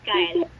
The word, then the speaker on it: Kyle: How do you pronounce your first name, anak? Kyle. Okay. Stand corrected. Noted yan, anak. Sir Kenneth, did you hear that? It's Kyle.